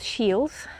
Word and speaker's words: shiel: And it's called South Shields, which comes from the word shiel, which is not pronounced like shield, but I'll put that